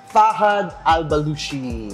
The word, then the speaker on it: Fahad Al-Bloushi: And I have here Fahad Al-Bloushi.